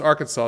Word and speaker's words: Arkansas: tell you why uh so arkansas is pronounced the way the native wait arkansas is pronounced the way that the french pronounce the native word or the native name and kansas is like the english version of it basically so it just depended